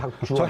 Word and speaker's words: 박주원: 발음 잘하셔야 됩니다. 박주원. 박주원입니다.